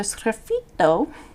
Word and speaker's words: sgraffito: So sgraffito, you have to say it like that, is a technique where you scratch away.